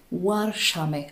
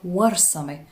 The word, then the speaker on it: ورسمة: بعد باسم ورشمة أو ولاشمة. طبعا هذا الاسم هو غير صحيح كنطق وككتابة أيضا، والاسم الصحيح هو ورسمة، وهذا الاسم هو اسم صومالي بحت، ولذلك الاسم الصحيح التاريخي هو ورسمة وليست ورشمة أو ولاشمة.